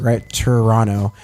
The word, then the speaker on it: Toronto: n o as kind of the way to pronounce it right Toronto they're silly people I do love Canada but